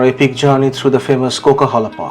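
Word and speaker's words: Coquihalla: It's like, you know, CocaCola and then hala. Cocaala.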